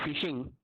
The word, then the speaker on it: phishing: Okay, actually the ph is pronounced as a phishing.